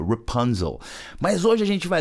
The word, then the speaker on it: Rapunzel: Rapunzel, que é Rapunzel em português, mas olha só a pronúncia, Rapunzel.